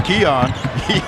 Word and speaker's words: Keon: And we learned how to pronounce his name. It's Keon.